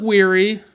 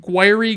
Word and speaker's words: Guiry: So you got Tom Guiry, I think that's how you say it, Guiry, Guiry.